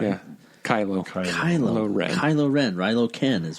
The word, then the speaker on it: Kylo Ren: And is that part of the storyline that he also left because after Ben turned into Rilo Ken, or do I say it wrong? Rilo? Right? Yeah. Kylo Ren.